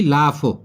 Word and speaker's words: laugh: जैसे कि लाफ, LAUGH, यहां पर GH घ बनता है जबकि इससे, परंतु इसकी आवाज नहीं आ रही है।